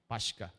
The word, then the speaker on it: Pascha: So, the same ra nga pagka-pronounce. Pascha.